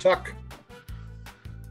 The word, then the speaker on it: TUC: it down food yes these are pronounced tuck oh tuck tuck mistakes